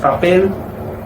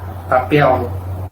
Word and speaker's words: papel: Por ejemplo, con la palabra papel, en regiones donde la L tiene sonido de L, en portugués, la pronunciación será papel, papel. Y en mi región, el sonido es de papel, papel, sonido de U.